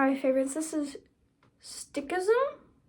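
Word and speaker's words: Sikhism: One of my favorites this is stickism think stick ism like a stick but it's it's spelled differently.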